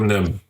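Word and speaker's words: NIMH: Don Bluth's Secret of Nim.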